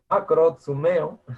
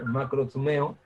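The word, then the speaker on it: μακροθυμέω: Esta palabra de paciencia, aquí es, la pronunciación es algo así como macro, macrotsumeo, macrotsumeo, es la palabra original en griego, que significa espíritu largo que aguanta, espíritu largo.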